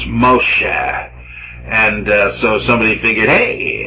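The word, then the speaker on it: משה: ma sha and so Moses pronounced in Hebrews Moshe and so somebody figured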